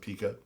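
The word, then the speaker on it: P.E.K.K.A: yeah but all right depends on how you pronounce it and they like to pronounce it Pika yeah Pika I didn't go Pika that's I don't know it's it's the punctuation in it that gets me thinking Pekka but okay keep going lady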